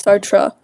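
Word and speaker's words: Sartre: Yeah, I can accept that the pronunciation is Sartra but I can accept it.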